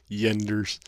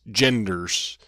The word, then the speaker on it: genders: Yenders. I'm guessing you're Norwegian? Maybe. I mean, they're the only people I know that have trouble pronouncing G's in English. It's genders. And again, I addressed this